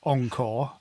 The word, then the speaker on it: encore: sing it as Last Encore. Yeah, but you don't say on. Do you? Maybe. You I would say encore, because in French they would accent the second syllable, wouldn't they?